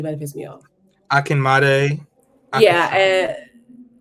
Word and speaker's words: Akinmade: Akinmade.